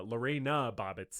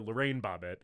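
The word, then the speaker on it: Lorena Bobbitt: misinformation first of all I mispronounced uh Lorena bobbit's name um I called her Lorraine bobbit and I also said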